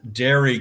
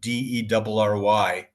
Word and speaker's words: Derry: a TV series called Dairy Girls. Not dairy as in dairy products, but Derry.